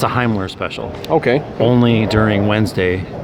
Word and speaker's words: Himmler: First of all, it's pronounced Himmler, as in the Heimlich maneuver.